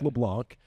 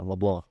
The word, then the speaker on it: LeBlanc: Baldridge and Tyson LeBlanc, which, by the way, is the French Cajun pronunciations. It's taken a while for folks to catch on to that because it looks like LeBlanc. But are we finally getting around to saying it right?